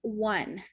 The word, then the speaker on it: one: the beginning it's pronounced one it's pronounced almost like a w one it's the same